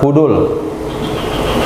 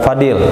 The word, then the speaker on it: Fudul: Baju besi muwassaha yang dilapisi dengan tembaga, yang diberi nama dengan Zatal Fudul. Bukan Fadil, tapi Fudul.